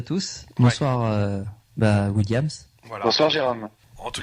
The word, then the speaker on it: Williams: Williams.